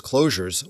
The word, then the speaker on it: Clojure: to anonymous functions as closures with an S but that's pronounced the same as closure with a J so to avoid confusion